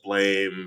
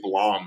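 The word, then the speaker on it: BLAME!: and if you look I think it's Blom is actually how you're supposed to pronounce it but I'm gonna call it blame because I was born in Chicago that book is biomega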